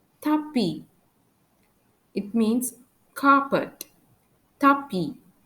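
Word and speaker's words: tapis: for example for s tapi it means carpet tapi you can hear that we don't pronounce that I don't pronounce the letter s it is a silent letter for H Abit which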